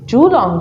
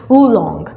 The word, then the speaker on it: Julong: Julong છે actually એનું pronunciation, actual pronunciation કરવા જાય તો it's Wulong. J is silent.